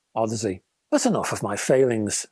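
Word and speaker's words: Audeze: to hear that the drivers were licensed from Odyssey and incidentally that's how you pronounce this word it's not as I thought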